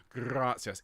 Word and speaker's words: Gratias: Can you roll your R's, please? Gratias Agimus Tibi. Gratias each time.